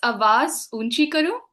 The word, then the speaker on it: Awaaz Oonchi Karo: Could you pronounce it for me? Because I would hate to butcher it. Don't worry. It's Awaaz Oonchi Karo.